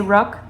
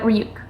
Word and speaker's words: Ryuk: I say his name wrong a lot. Sometimes I just say Rook, but Ryuk.